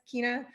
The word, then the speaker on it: China: i guess or profile is coach uh s kinah and and you said my name right which is great i know you know i would have totally pronounced it yeah so it's coach s keena um and then crossfit uh sorry mountain made